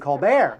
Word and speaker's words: Colbert: how about Steven Colbert who changed the pronunciation of his name to stepen colar but I think that's